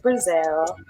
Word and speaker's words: Breazelle: yes so as you say my name is brazil and i've been doing music they never feel